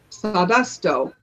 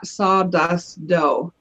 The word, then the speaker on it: Sawdusto: And you have to say it with accent. Sawdusto. That's how it's said.